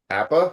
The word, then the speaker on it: Apa: so much film, but a book by Appa. Am I pronouncing that correct?